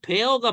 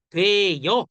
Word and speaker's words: 되어: 원래는 되어가 맞아요. 근데 사람들이 되어 이렇게도 발음을.